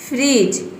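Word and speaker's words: fridge: आया है तो इसमें डी जो है वह साइलेंट है, जज। उसी तरह से यहाँ पे देखिए veg, budget, फ्रिज, knowledge, ब्रिज, इन सभी में क्या है, डी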